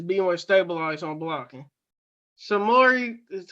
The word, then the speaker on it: Samori: Samori is how you say Samori Toure.